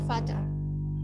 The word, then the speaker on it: Vater: Misalnya der Vater. Jadi der Vater, R-nya nggak terlalu kebaca, karena di depan huruf R itu ada huruf vokal.